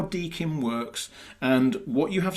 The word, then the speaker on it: DKIM: So the first acronym that I'm going to mention is Dkim. It's spelled DKIM, and it stands for Domain Keys Identified Mail.